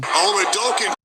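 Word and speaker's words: Oladokun: We have the pronunciation. Oladokin.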